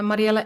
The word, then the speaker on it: Mariëlle: NL right yes and uh what is your your Instagram oh so I one is uh Mariela s smithh yeah that's how you pronounce my name in Dutch uh my first name